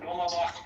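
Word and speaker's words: Dolmabahçe: It's Dolmabach Palace. Hold on. Dulmabah.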